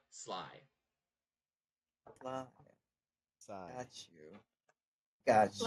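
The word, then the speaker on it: Slai: He looks at you infuriated and he's like, Sly. That's all you get out of me. Well, so Sly. It's, all right. So it's spelled like this, S-L-A-I, Sly.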